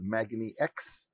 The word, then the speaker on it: magniX: magnets roy welcome uh thank you it's uh pronounced magnex so if you want to do that just for later on magnetic so tell us a little bit about the background of magnetix magnex is a company that started back in 2009